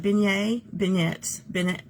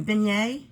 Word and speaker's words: beignet: How do you pronounce that? Beignet. I know. You get powdered sugar all over you. Beignet.